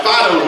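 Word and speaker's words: Phideaux: Now, Fido's my retrieving dog. You spell that P-H-I-D-E-A-U-X, Fido, see?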